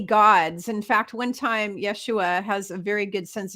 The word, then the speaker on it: Yeshua: Yeshua and that's fine the actual Hebrew pronunciation is Yeshua that is how you say it in Hebrew Yeshua is how you say